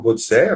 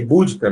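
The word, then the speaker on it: Boudica: No caso, aí, a Búdica, ou Bodicea, né, latinizada, forma latinizada Bodicea, ou Búdica, ou Budica, também tem, né, a forma mais anglicizada, aí, Búdica, né, com a sílaba tônica primeira.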